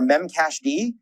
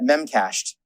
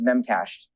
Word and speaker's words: memcached: In this case, there's existing adapters that come with Rails for memcached. By the way, some people pronounce that memcached. They are wrong. The D in memcached stands for daemon, which is the terminology